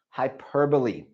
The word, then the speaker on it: hyperbole: So you may look at this and think that this is, and I've left out a letter, that this is hyperbole, but this is actually pronounced hyperbole.